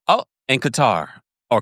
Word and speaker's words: Qatar: I say oh and Qatar or Cutter all right DOA Mima is watching from DOA I want to go to Qatar or Cutter cutter is a correct pronunciation right I want to